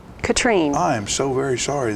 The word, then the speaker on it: Catherine: you something really quickly my name looks like catherine but it is pronounced katrine katrine i am so very